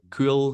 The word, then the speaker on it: Kuol: I'm assuming cool, that's how you pronounce it. It's Kuol, cool, and he's anyway.